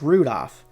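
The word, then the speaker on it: Rudolf: Anyway, this guy's name is pronounced Rudolph, named after the red-nosed reindeer.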